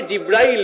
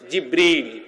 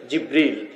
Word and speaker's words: জিব্রিল: আমরা অনেকে জিব্রাইল বলি, আসলে এই শব্দটির সঠিক উচ্চারণ হচ্ছে জিব্রিল। সঠিক উচ্চারণটা কি? জিব্রিল।